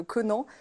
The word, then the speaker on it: Conan: Oui, j'étais en train de me dire, je ne l'ai pas prononcé correctement. On va dire comme tu dis. On dit Conan aujourd'hui.